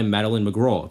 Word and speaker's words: Madeleine McGraw: The main character in this movie is uh Gwen, played by Maline McGro, that's how you say her name.